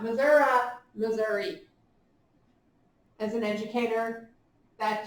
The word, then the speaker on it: Missouri: here's something that we have available in springfield missouri because cox health systems is based in springfield missouri not missouri missouri as an educator that just irks me